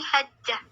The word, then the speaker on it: Hajjah: dalam kurung HD itu ada bacanya bukan Haji tapi hajah hajah kalau Haji hanya hal saja hati titik kalau Hj kita membacanya Hajrah Siapa yang dibeli gelar